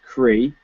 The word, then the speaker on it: Creagh: there's a lady called Mary Creagh Gore who pronounced Cree she's a labour politician